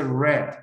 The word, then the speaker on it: read: leer en la palabra el el deletreo es igual pero la pronunciación es diferente se dice red okay So read in